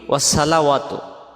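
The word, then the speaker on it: وَالصَّلَوَاتُ: ওয়াসসালাওয়াতু যদি পড়ি এই সদটা সিন অক্ষর হয়ে যাবে, কিন্তু সিন কি সদ জবর স, এটা হলো সিন জবর সা। তখন এই সদ অক্ষরটা বাদ গিয়ে আমাদের উচ্চারণ হবে ওয়াসা, মানে এইটা হবে।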